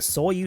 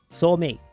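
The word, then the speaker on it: Starmie: still just a stu, I could never pronounce its name right. It always ended up sounding like saw you. Guess I kind of reverted or something. Saw you. Saw me. But now it's saw me.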